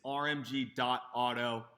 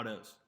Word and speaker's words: RMG.AUTOS: It's RMG.auto on Instagram. You literally said it wrong. Autos. RMG's With an S.